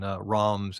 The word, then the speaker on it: Reims: my son says actually the proper way to say it is ROMs. But, you know, you got to get that French that guttural.